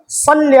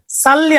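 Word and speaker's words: صلِّ: আল্লাহুম্মা সাল্লি আলা মুহাম্মাদিন। আল্লাহুম্মা সাল্লি, সাল্লি আলা বললে ভুল হয়ে যাবে। সল্লি, সদ উচ্চারণ করে বলতে হবে।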